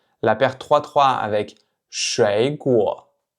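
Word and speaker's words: 水果: Donc en fait ici, vous pouvez remarquer que la paire 3-3, elle se prononce toujours comme la paire 2-3, puisque si vous vous souvenez, quand on a 2 fois le troisième ton, le premier va se prononcer comme un deuxième ton et seulement le deuxième comme un vrai troisième ton.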